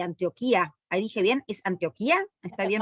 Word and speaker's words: Antioquia: Ahí dije bien, ¿es Antioquia? ¿Está bien pronunciado? Bueno, aquí decimos Antioquia.